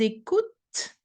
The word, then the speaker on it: écoutent: Ils écoutent, the t is the last sound I should hear, because the e, the n, and the t actually doesn't really create any extra sound.